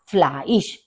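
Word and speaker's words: Fleisch: का मतलब मीट मास क्योंकि आप देखेंगे ई और आई है ई आई का प्रोनंसिएशन होता है आई तो आपका बन गया फ्लाइज फिश फिश फिश मछली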